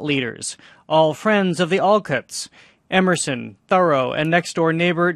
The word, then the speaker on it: Alcott: 950 dollars in 1857 what's the correct pronunciation of this family's last name all cuts not all cut Jan turn Quist is